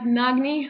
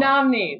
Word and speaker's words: Nnamdi: How do you pronounce it? Nagni? Nnamdi Asamoah. Nnamdi, that's right.